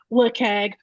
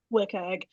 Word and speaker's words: WCAG: What is um an interesting or notable issue you've seen filed against uh wagg however how I say wagg um but I know some people prefer another pronunciation do you mean